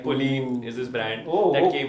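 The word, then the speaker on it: Polène: Like Pauline is this brand that came from his fiance. It's pronounced Polen, by the way.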